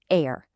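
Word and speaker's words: aĩr: Air. You pronounce it air.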